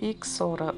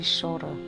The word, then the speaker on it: Ixora: Uns chamam de Ixora, outros de Chora. Depende da pronúncia que você quiser chamar com essa planta encantadora.